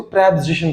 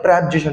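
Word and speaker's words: preposition: Adverb, conjunction, इसको प्रेपोजिशन पढ़ते हैं। क्या पढ़ते हैं? प्रेपोजिशन, नॉट प्रीपोजिशन।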